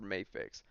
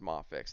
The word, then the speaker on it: Mafex: I say Mafex because there was a person I think Kevin had them on toying around, and they said that it's pronounced Mafex, and they work for it. So I was like, all right, I'll say Mafex.